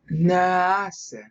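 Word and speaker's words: נעשה: So when he says here, naase, which is how they want you to pronounce it.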